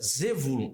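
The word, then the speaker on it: Zebulun: Ah, Zebulon. Na pronúncia é Zevulun. Zevulun. Tá aqui como é a pronúncia hebraica, para facilitar.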